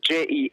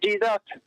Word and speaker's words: Jesus: on his jersey but Jesus Jesus why why because in Spanish J is pronounced like h yeah don't speak Spanish